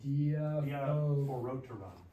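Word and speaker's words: διαφορώτερον: Diaphoroteron. Diaphoroteron. Diaphoroteron. Wouldn't it be diaphorot? Why is it, Diaphoroteron. why is not oo? Roo. This, because rho, omega, it's rho, literally. So omega makes a long O sound.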